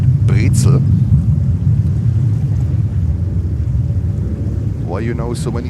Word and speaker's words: Brezel: We pronounce it pretzel here. In German, you pronounce it. You pronounce it Brezel.